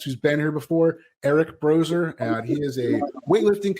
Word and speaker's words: Broser: It's pronounced like a Z, but it's actually S. BROSER. Brozer Built.